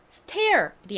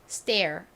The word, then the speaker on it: stair: 상관없어요 또 말씀드릴 거니까요 자 s의 뒤에 t 혹은 p 혹은 k 등이 오면요 tpk가 된 소리가납니다 좀 더 세게 발음이 돼요 그래서 그냥 티읕 발음이 아니라 쌍디귿처럼 세게 뜻 발음이 됩니다 그러니까 stair이 아니라 정확한 발음은 stair stair이 됩니다 따라해 보세요 stair 한